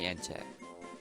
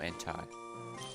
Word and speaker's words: Entei: It's a mini ente. Or entai, depending on your pronunciation.